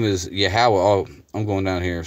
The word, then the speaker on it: Yahweh: Because V's are always sound like W's in the ancient world anyway. It should be pronounced Yahweh.